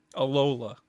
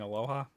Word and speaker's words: Alola: place during the day one takes place yeah alola is the form by the way I think we kept saying Aloha which I'm gonna keep saying forever yeah apparently